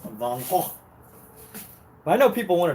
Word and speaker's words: Van Gogh: Van Gogh is the correct way, or the Dutch way, which Van Gogh, Van Gogh is Dutch. Therefore, his name should be pronounced Van Gogh.